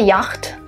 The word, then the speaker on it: yacht: Not a yacht, but yacht. A yacht is a boat with a sail that is used for racing or traveling. And basically here you have two letters, CH, that are not pronounced.